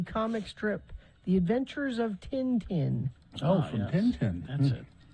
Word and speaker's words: Tintin: strip The Adventures of Tintin oh from Tintin that's it or tent I think that is is is that how they say it t Tenten I believe that's how they say it in France it's FR French T